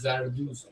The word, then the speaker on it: Zarduz: Zarduz. Broider. Yeah. Broider. At the end, it's not SH. It's not shit. It's Z. Zed.